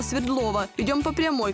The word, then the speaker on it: Свердлова: светлого так нам сюда местные жители в названии делают ударение на букву е хотя свое имя улица получила в честь революционера якова свердлова идем по прямой к